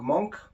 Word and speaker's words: Moench: uh writer doug monk that's why i'm going to pronounce it monk he's born in 1948